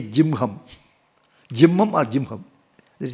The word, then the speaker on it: Jihma: Here also Jihma we write, but they say Jimham.